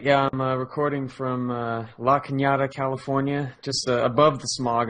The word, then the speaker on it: Cañada: And yeah, that's the town that's spelled La Canada. Right, But it's got a little like Mexican hat on there, which makes it Yes. Cañada. Cañada, yeah.